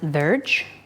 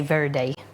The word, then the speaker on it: verde: In Portuguese, you would pronounce it verge, like you know, you put something on your verge, the front of your house.